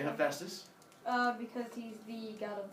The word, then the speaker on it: Hephaestus: letters in the middle, what sound does a PH make? Yeah, like a telephone. You've seen this before. It's not Hephaestus. Why would you pronounce it Hephaestus? It's an F, Hephaestus.